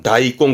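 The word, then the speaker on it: 大根: 여러분 그거 아셔야겠다가 큰 대자 붙이면 대근하니 이때 발음은 다이꽁 그런다고.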